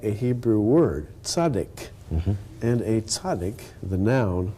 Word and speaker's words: Zadok: His name was really Tzaddik, wasn't it? His name was really tzaddik. In English it comes out Zadok, or, you know, in Oklahoma...